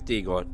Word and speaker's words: Dagon: It is Dagon. There you go, everyone. I now know how to pronounce it.